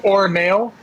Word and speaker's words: Ornail: It's like Like my screw or nail. Ornail is pronounced the exact same way.